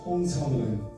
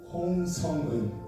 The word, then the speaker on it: Hong Sung-eun: So your family name comes first, so it's Hong Sung-eun. What is it? Hong Sung-eun.